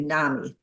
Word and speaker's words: NAMI: And in the Midwest, we say NAMI. NAMI. I think everybody says NAMI, but enough people say NAMI that I slips. I know it rhymes with mommy.